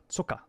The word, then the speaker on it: Zucker: Yeah, it's Zucker. Zucker. That's how you pronounce it.